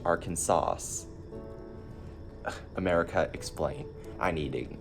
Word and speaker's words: Arkansas: It should be pronounced Arkansas.